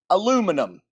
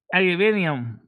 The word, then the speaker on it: aluminium: Aluminum. Aluminium. Oh. Aluminium. Aluminium is actually the correct way to say it.